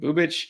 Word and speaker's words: Bubic: Well, with Bubic, which actually I did look it up, and you're right, that is how you say it. Bubic.